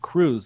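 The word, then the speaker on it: Krewe: professional guide Rooney bosin who owns the wandering crew tour company I've had a uh Onan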